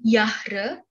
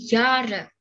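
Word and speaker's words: Jahr: tahun dalam bahasa Indonesia jadi bacanya bukan Yahra bukan Zahra tapi jare hadits itu juga dihilangkan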